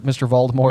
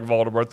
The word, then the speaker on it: Voldemort: Because you're not supposed to pronounce the T. Right. I think. Yeah. I think Jim Dale doesn't pronounce the T for like the first 4 books. Feels like it goes back and forth. And then eventually he starts to pronounce it in the end.